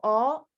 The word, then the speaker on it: ho: Don't worry, we are not studying this verb now, but in this case, the H is silent. So is instead of io, ho, I have, it's io ho, tu hai, lei ha, no, loro hanno.